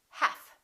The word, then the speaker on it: half: talk could would should silent L half we don't say health we say half silent te the silent